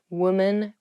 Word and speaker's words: woman: not women's or woman even though the uh the singular and the plural form of women and women have the same spelling at the beginning w m the pronunciations are different woman women so watch out for